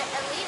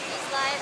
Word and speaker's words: Eslite: So why did I say Elite instead of Eslite, Eslite, whatever? Because according to their website, they say this is Old French, and I guess in French you're not supposed to pronounce the S.